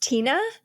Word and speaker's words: Teana: Oh my gosh, is your name pronounced Tina? It is.